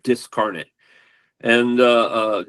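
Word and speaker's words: Dyscarnate: they spell it with a Y, but it's pronounced Discarnet and uh uh D Ys C A R N A T E, I think.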